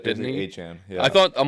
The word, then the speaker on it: Etienne: Like A-Chan. Yeah, it's basically A-Chan.